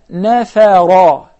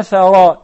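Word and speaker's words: نفرا: The second notice is وَأَعَزُّنَا نَفَرًا وَأَعَزُّنَا فَرًا. Imagine the difference between نَفَرًا and نَفَرًا. There is a huge difference, of course.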